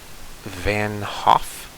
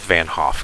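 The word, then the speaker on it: van 't Hoff: equation that is called the uh van hoff i think that's how it's pronounced i don't think you pronounce the t i don't think it's the vant hoff but maybe it is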